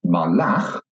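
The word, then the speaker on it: מָלַךְ: So, melech, king, is accented at the beginning of the word. But if I take the same consonants and put in some different vowels, malach, he ruled, then you can hear that the stress is at the end of the word.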